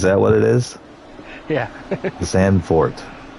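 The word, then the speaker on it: Zandvoort: xand for it's got It's got two o's though there should be an ooh right it should be an ooh sound I mean if you were to pronounce it in native tongue they probably roll that o a little bit more but xanor is the you know well adopted well understood name I see it and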